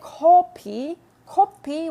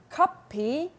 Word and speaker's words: 커피: Of course, if you say kopi in Korea and you're ordering a coffee, everyone will know that you mean kopi. Everyone will know that you mean coffee. But it's still a little bit of it's an embarrassing mistake to make. So be careful with your pronunciation. It's kopi, not kopi. All right, because kopi is nosebleed.